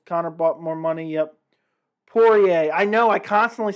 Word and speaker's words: Poirier: oliveira fight because connor bought more money yep pourier i know i constantly say it wrong it's